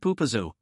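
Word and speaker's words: Popo Agie: The river's name is pronounced Pupazu, a local Shashonyi word meaning gurgling river.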